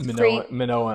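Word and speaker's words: Minoan: Maninoan, I think, is how it's usually pronounced, but I I've heard different ways.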